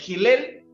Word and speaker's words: Hillel: La casa de Bet Hillel, se escribe H-I-L-L-E-L, y la casa de Bet Shammai, se escribe S-H-A-M-I, no I latina, no Y, sino I latina, Shammai.